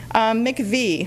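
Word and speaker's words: MIECHV: lot of work about make a V that's how we pronounce that acronym bully or not and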